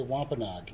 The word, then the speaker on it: Wampanoag: How do you say Wampanoag? You say it the way I just said it, Wampanoag.